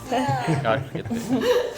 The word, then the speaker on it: Arket: something from them, then we would probably call it Arketti. Arket. I mean, that's different. But as a brand, the pronunciation would be Arket.